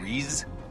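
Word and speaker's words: Rhys: uh why not re Rees re isn't that what I said it's exactly spelled the same way too like Reese sit down and let's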